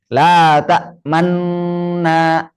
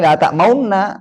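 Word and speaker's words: لَا تَأْمَنَّا: Berarti bacanya, perhatikan. La ta'manna. Di sini. La ta'manna. Begitu. Nggak boleh la ta'maunna. Nggak boleh mau.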